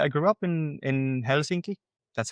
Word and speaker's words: Helsinki: I I grew up in in Helsinki. That's how it's pronounced.